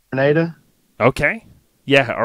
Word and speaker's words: Grenada: And I think is it Grenada? Is that how you say it? Yep, just like the island, Grenada.